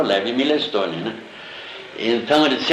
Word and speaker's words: Milestone: O Milestone é Milestone mesmo, se escreve, né? Mas lá ele pronuncia Milestone, né?